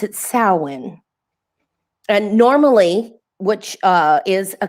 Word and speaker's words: Samhain: I don't know how they get Samhain out of Samhain, but they pronounce it Samhain.